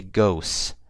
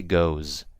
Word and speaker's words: goes: But when I'm talking about goes, does, is, you guys see, I'm pronouncing it not with an S, but with a Z. So I didn't say goes. I say goes. I don't say does. I say does.